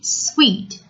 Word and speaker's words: suite: S-U-I-T-E is pronounced suite. S-U-I-T is pronounced suit.